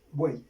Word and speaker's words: buey: Buey, lo mismo que los anteriores ejemplos. Buey, una sola sílaba. Buey, yo no digo buey, sino buey.